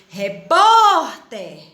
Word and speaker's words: repórter: a colocar no lugar repórter o pó é mais forte não é boneca olha aí